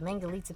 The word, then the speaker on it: Mangalitsa: Mangalita rhymes with pizza.